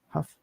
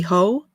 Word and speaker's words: Hough: yeah like julianne huff is that her name huff he did that for a long time h-o-u-g-h huff wouldn't that be hoe i was being nice